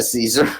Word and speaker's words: Caesar: Yeah, I prefer Caesar over you're probably Kaiser right. spelling. I studied Latin for like 6 years. It's that hard C is just in my brain forever now.